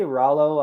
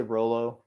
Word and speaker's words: Rollo: pronounce it mike yeah some people say rallo i say rolo it doesn't matter okay like the candy bar like the candy bar